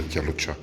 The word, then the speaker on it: Kalocsa: C'est la peinture qui est au mur, c'est la décoration ici, ce sont les fleurs de Kalocha.